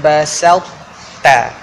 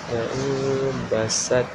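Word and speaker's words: بسطت: Cara bacaan dia la'in basalta. Basat.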